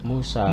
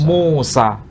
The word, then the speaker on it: Musa: Tapi kalau bahasa Ibrani khas tradisi Samaria menyebutnya bukan Mosye tapi Musi. Arab menjadi Musi. Sedangkan dalam bahasa Arab Quran menyebut Musa. Muse atau menyebut Musa. Jadi tokohnya sama tapi cara pelafalan bisa beragam.